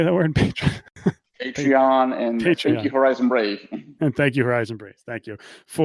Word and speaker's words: Patreon: And on Reddit, patronage. How do you say that word? Patreon, and thank you, Horizon Brave.